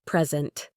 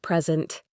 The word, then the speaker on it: present: Think about the words present, a gift, and present, to give, or object, a thing, and object, to disagree.